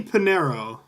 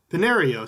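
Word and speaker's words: Piñeiro: back oh man Eddie Panero Pinero sorry that's how you say his name the kicker from the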